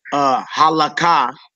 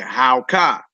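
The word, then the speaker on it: הלכה: So you wouldn't say halaka, you would say howka.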